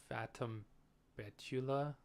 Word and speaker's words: Fatum Betula: be playing um now I think it's pronounced Fatam Betula it's Latin I don't know uh essentially